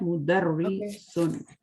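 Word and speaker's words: مُدَرِّسٌ: ये तशदीद के नीचे कसरा है, ठीक है? मुदर्रिसुन, तो इसको इस तरह पढ़ना है.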